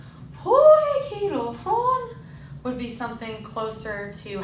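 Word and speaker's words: ποικιλόφρων: That means that in a stress, I would go poi, ki, lophron. So I've stressed the first syllable, not the second, and then lophron.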